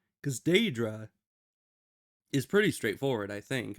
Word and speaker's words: Daedra: But anyways, like, this guy pronouncing Daedra as Deirdre, like he's trying to say the name like Deirdre or something.